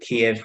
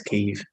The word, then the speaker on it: Kyiv: I think it used to be Kiev, but the problem was that Kiev was the Russian pronunciation, so now it's Kyiv because that's the Ukrainian pronunciation.